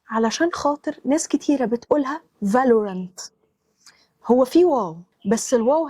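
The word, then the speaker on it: Valorant: دي تريكي شويه علشان خاطر ناس كتيره بتقولها فالورنت هو في واو بس الواو هنا خفيفه فبتبقى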